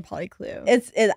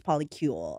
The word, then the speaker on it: polycule: Polycule makes more sense than a poly clue. I just call it poly clue because it's spelled like that, but it's polycule or whatever.